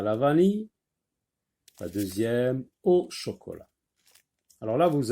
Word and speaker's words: deuxième: Et dans le mot deuxième, on entend Z. Z.